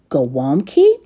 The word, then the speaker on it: gołąbki: Today we're in the kitchen making some cabbage rolls, which is a Polish dish normally pronounced gaw-WOOMB-kee.